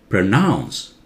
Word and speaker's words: pronounce: it aloud now listen pronounce Pro very soft nouns louder pronounce when you say powder